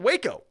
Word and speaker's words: Waco: who was involved in waco let's not pronounce wacko okay for years chitman served